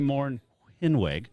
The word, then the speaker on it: Mornhinweg: Marty Mornhinweg. Oh, I love it. Is that You're better? Good. Well, that's the German pronounce. That's the way our family pronounces it.